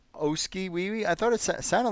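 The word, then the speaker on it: Oskee Wee Wee: Oski Wee Wee?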